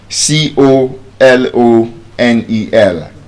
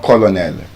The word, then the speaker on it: colonel: C O L O N E L. It's not colonel and it's not colonel. Colonel. Colonel.